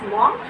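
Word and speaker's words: Maugham: for this word answer pronounce this word as lawful and some of them call it's as warm so we are saying we are calling it as warm Somerset warm right you can see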